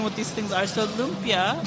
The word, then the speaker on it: lumpia: So lumpia, right? That's how you pronounce it.